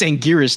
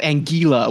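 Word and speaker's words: Anguirus: and it's like that's that's not how you pronounce angiras it's angiris not angila what is that it's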